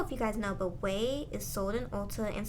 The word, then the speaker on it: Ouai: This is from the brand Ouai. It's Ouai, and it's pronounced Way if I'm not mistaken.